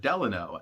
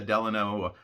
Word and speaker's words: Delano: be staying at the delano and i believe that's how it actually is supposed to be pronounced just like the middle name of the 33rd president franklin delano roosevelt from what i understand